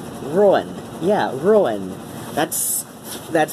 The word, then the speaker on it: Ruadhán: audible syllables Rowan yeah ruin that's that's how I say my name that's always always said my name I'll accept a Rowan if somebody says that but ruin that's that's how I say it ruined yeah yeah that's